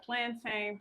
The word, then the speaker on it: plantain: Plantain. Plantin. Once again, however you want to pronounce it, I pronounce it plantin.